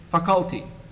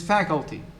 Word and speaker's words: faculty: some words for example most of you males say faculty stressing the second syllable which is wrong it is faculty you say specific stretching